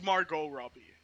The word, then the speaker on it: Margot Robbie: this her name is margot robbie good you don't pronounce that t just please stop pronouncing the t it's not it never has been it never will be her name oh robbie